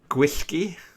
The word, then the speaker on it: gwyllgi: Well, double L is like a letter, right? What? double L is a letter in the Welsh alphabet.